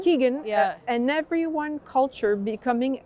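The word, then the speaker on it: Kegan: from Freddy Lou Robert Kagan said how you pronounce yes Keegan Keegan yeah and everyone culture becoming a deliberately development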